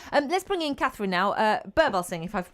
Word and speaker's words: Birbalsingh: Birbalsingh, if I've pronounced your surname right.